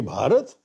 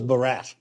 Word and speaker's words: Bharat: One name that has the internet go bonkers is Bharat Assachi. Where do you stand there? That's where I absolutely insist. When I speak in Hindi or Mallayalam, I say Bharat and when I speak in English, I say India.